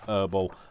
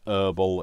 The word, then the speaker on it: herbal: are in the world, you might pronounce it differently. But in the UK, we pronounce it Herbal. I know that it's Herbal in some parts of the world, but we pronounce it Herbal.